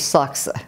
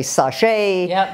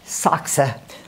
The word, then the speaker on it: Sachse: moved here don't forget her last name is saksa which is the german name nobody can could pronounce saxon everybody would say sashay sanchez etc and then they couldn't even pronounce